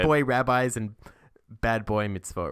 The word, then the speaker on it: mitzvot: Mitzvot? Mitzvot. Mitzvot. Okay. It's like an ot, not a ut.